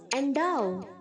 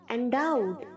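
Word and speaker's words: endow: एंडाउ, एंडाउड, एंडाउड, बहुत सारे बच्चे इसे एंडो बोलते हैं। एंडो गलत प्रोनाउंस है बच्चों, एंडो नहीं, एंडाउ।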